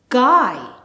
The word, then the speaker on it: guy: However, the U is silent. B, I buy. G, I guy.